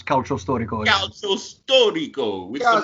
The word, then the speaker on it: calcio storico: Listen, calcio storico. It's calcio storico.